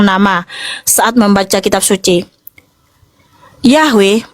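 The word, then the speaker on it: Yahweh: Saat membaca kitab suci, Yahwe merupakan konsensus penelitian modern dan akademis untuk pengucapan yang paling mendekati bahasa Ibraninya atau aslinya, ya.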